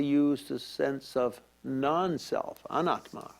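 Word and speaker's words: anattā: the sense of non-self anetha or if we mispronounce it in pali then we'd say anata in ancient india there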